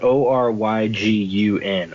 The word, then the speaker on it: Oregon: favorites are again I always just say Oh pronounce that Oh ryg un or again or a gun like that so